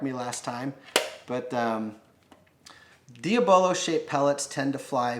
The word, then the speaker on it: diabolo: last couple years doing this is that these diabolo and that is how it's pronounced to know a couple you guys wanted to correct me last time but diabolo shaped pellets tend to fly very well between